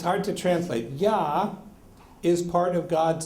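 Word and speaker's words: יה: full name you'll notice if you just pronounce the first two letters you got yah okay so so so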